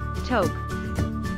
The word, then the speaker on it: toque: fast food coffee chain toke pronounced as top or toque a toke is a